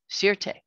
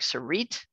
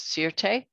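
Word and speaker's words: Sûreté: de quebec and that is spelled s-u-r-e-t-e sierte to we who speak english it looks like sarit it's not it's sirte uh kinda looks like the word security if you can think of it that way if that helps armand gamash is married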